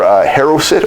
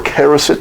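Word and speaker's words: charoset: There's a recipe on our website for haroset or karoset, depending how you want to pronounce it.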